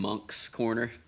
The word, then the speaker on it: Moncks Corner: say Monks Corner.